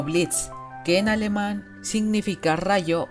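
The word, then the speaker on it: Blitzø: activez la cloche Curiosidades La "o" dans le nom de Blitz est silencieux, car il se prononce comme "Blitz", qui en allemand signifie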